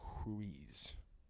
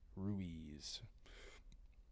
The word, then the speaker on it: Ruiz: Agreements by Don Miguel huiz Ruiz I know he's not uh Brazilian it's not uh time to pronounce RS like H's but um really that